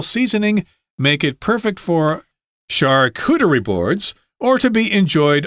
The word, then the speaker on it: charcuterie: So it's pronounced, guys, in a weird way. It's charcuterie boards.